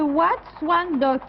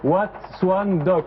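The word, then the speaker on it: Wat Suan Dok: c'est le Wat Swan Dock.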